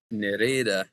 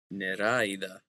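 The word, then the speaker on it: νεράιδα: So normally this is going to be pronounced like eh, but Mm-hmm. whenever the stress falls on the alpha, you get this word, which is Nereda.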